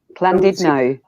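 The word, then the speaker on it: Llandudno: If you see a double L in Welsh, you have to pronounce it like you've got a speech impediment.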